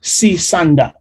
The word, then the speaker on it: Sisanda: Have I pronounced your name correctly? That's right, yes. Sisanda. Yeah, good.